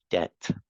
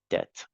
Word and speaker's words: debt: be in debt and the pronunciation there's no B just debt debt okay all right um